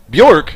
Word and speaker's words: Bjork: Bjork? Yeah, the J is silent, baby.